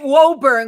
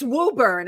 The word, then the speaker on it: Woburn: I always pronounced it Woburn because I know it. But it's Woburn. I've been saying it wrong.